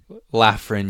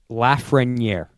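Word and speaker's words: Lafrenière: you know pronounce it laugh friend yeah is that how he says it yes laugh wing down here that's how the French say it laughs ring year yes year and and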